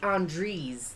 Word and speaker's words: Andreas: I think it's Andres, like ease.